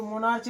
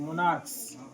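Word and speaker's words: monarchs: मोनार्च इसको मोनार्च नहीं पढ़ना है। पढ़ना है। मोनार्च। क्या पढ़ना है? मोनार्च एम ओ एन ए आर सी एच एस लगा देंगे। मोनार्क्स।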